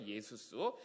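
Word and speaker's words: Ἰησοῦς: 그리고 또 이제 신약 성경으로 넘어가 보면요, 이 여호수아가 예수아로 바뀌었다가 완전 헬라식 발음으로 변한 게 바로 예수스예요. 예수스.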